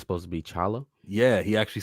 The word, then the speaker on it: T'Challa: I saw actually related to apostrophes that T'Challa's name isn't really T'Challa. It's supposed to be just Chala.